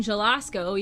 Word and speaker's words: Zelasko: That's like saying Jalasko, even though it's spelled Zelasko, Zelasco.